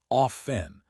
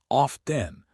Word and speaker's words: often: or more linguistically conservative, say often with the silent T. If you want to sound more contemporary American, often with the T is perfectly fine.